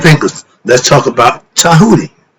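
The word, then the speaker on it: Djehuti: thinkers let's talk about tahi it's spelled D J E H u t i but the t is pronounced with a D sound and in China they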